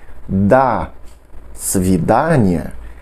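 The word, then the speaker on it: до свидания: é uma na outra Então apesar de estar separado por escrito da vidania devemos pronunciar tudo junto como uma coisa só da cidade da cidade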